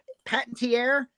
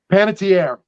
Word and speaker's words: Panettiere: yes the chairman Hayden patentiere Panettiere thank you I have gotten her last name wrong for 20 years but yes wouldn't it